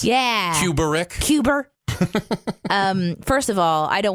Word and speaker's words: Kubrick: Come at me, Kubrick. I'm ready. I love how you make his name 3 syllables. Yeah. Kubrick.